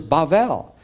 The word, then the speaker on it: Bavel: Mani zarat babil now it's interesting that the his ancient pronunciation at least of this zigarette is babil and Hebrew is bavel and you look at other languages and it's the same but it's translated into English through the Greek which is babylone or